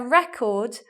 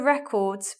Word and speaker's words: record: We have a record of all the records recorded by them. This one's a noun, this one's a noun, and that's the verb. So the stress is in different places there.